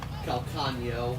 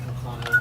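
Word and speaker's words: Calcaño: Calcano. Calcano. Okay. But also, I mean, it's an Enya. You can also just pronounce it Calcano. A lot of people pronounce it that just Okay. to make it easier.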